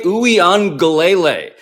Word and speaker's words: Uiagalelei: I learned how to pronounce it very recently. DJ Uiagalelei.